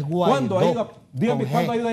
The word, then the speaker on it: Guaidó: Marco, ahora es el segundo golpe de Estado de este señor Gualdón. ¿Cuándo ha ido a elecciones? Pronúncielo bien, no es Gualdó, es Guaidó.